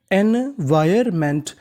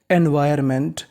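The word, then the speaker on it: environment: एन हमारा silent रहेगा ओ एन का उच्चारण हमें ना के बराबर करना है और आखिरी में लिखा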